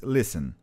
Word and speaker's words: lessons: e ele a primeira diz leysson leysson Note que se te não é pronunciado tá Alisson que Deus